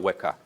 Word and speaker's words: Weka: It's actually a trillion exabytes, and it's pronounced as Greek unit, so mega, exa, Weka.